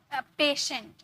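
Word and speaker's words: patient: पेशेंट, पेशेंट, पेशेंट नहीं, पेशेंट नहीं, स नहीं, श, पेशेंट।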